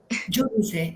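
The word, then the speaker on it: Júdice: Giudice, es Nuno Judice. Giudice porque es un nombre portugués.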